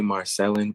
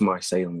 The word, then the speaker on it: Marcellin: A lot of people will say Marcelin, but it's Marcelin with like an accent on the E.